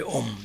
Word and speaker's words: Om: This is comprised of, maybe you can say 3 sounds, that of A, U, and Ma. So these 3 together make Om.